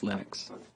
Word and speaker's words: Linux: people pronounce my name but linux is always linux he developed a kernel